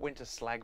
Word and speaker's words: Winterslag: It's spelt Winterslag, but I'm sure you pronounce it Winterslag, and they became KRC Genk.